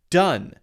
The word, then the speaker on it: done: not it is pronounced done uh which is the short u sound same as d-u-n which is not a